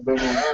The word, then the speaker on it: Bevel: Yeah, Bevel. Rhymes with devil.